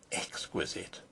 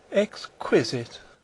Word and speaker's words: exquisite: Baines have thought of exquisite exquisite she repeated the word with a sarcastic inflection putting the accent as everyone put it on the second syllable I don't think that